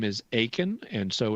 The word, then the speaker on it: Akin: My last name is Akin, and so it's spelled A-K-I-N.